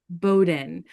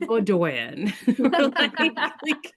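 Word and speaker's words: Bowdoin: Yeah, I um I appreciate that they used Bowden here because for everybody listening, it is spelled B O W D O I N pronounced Bowden, not Bodan.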